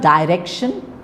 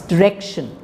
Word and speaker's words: direction: it's container collector commencement it's not Direction it's Direction director it's not director